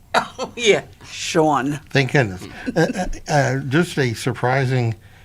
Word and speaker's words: Sean: this beautiful woman named Sean was emailing me, and I'm like, that's a boy's name. Don't ever say that. My mother told me it rhymes with Dawn. Dawn.